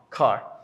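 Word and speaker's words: کار: This is the pronunciation of kar. Also is here. Ka is a long a, kar.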